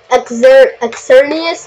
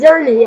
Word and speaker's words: Xerneas: Well, it's spelled with an X at the beginning. Do you know how, like, pterodactyl has a P in front of it?